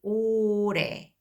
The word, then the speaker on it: 올해: 올해. This year. So because this does not really pronounce this final consonant l, kind of spills over for the pronunciation. So what you will hear will be 올해, means this year.